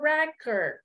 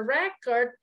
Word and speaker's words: record: okay the same uh the same uh spelling but uh the pronunciation A little bit different okay let me pull